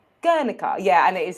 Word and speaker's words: Guernica: actually the most google-searched painting in the world girlica guernica yeah and it is how that is how you pronounce it because i also googled that as